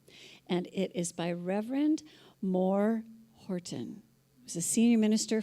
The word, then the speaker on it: Maur: His name is spelled M-A-U-R, and when we were asking how to pronounce it, he said it's Maur, as in Maurice.